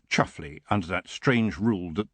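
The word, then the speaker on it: Chumsfanleigh: this one's having twins roland the chum's family pronounced chuffly under that strange rule that the more gentrified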